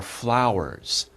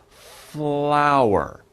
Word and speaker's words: flower: Be careful, this is a little himdero, a little difficult to pronounce. F and L, right? F and L. Very difficult combination. F, F, F, and L, L. Put them together. Flower, flower. That's not so hard.